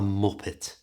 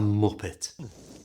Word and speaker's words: muppet: to call them a muppet like one of these a muppet what's the matter I want the steering wheel back you Muppet it's important you pronounce the T on the end of this I know sometimes in